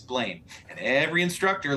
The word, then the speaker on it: Blaine: big mistake of saying my name is not blano it's blaine and every instructor like